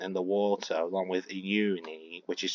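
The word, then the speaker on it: Ennui: When her makeup got all ruined because she went in the water along with Uni, which is spelled E-N-N-U-I, they actually properly reacted.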